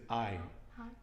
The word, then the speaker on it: hay: i h a y the h is silent and it's going to be i and this is a